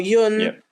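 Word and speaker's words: Jon: go yeah yeah or Yun I believe is how it's pronounced in Swedish two joh in the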